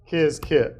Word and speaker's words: Qiskit: Um, so let me get pip install kizkit. Notice kizkit is spelled qiskit.